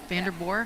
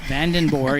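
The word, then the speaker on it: Vandenboore: And she said, "Yep, van like the vehicle and den and then boore."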